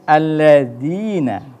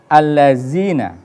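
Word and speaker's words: الَّذِينَ: atau Idgham Syamsiah kemudian alladzina perhatikan ada kekeliruan dalam pengucapan yaitu alazina sedang itu tidak seperti itu ladzina ya itu ada Mad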